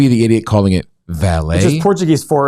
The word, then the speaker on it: Vale: this brazilian company and they pronounced it valet which is portuguese for valley so i'm going to be the idiot calling it valet portuguese we're going